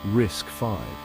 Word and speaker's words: RISC-V: kid on the Block Ry CV pronounced risk 5 ryc 5 is not